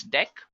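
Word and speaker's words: deque: written as DQ but we can pronounce this as deck now talking about deck what actually it is used for so deck pronounced as deck is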